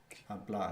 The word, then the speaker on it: hablar: Hablar. It begins with a silent H.